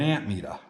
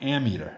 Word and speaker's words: ammeter: always called it an ant meter because you're metering amps but it's actually pronounced ammeter it's amm you know there's no p in it but anyway go figure